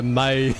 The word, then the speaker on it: Mai: You're pronouncing the my wrong, but you can't explain how to pronounce it. Is it something I need to hear? Me. Probably. Thank you. I love ambiguity. Little May. Little May. Yeah, May. But without the ah.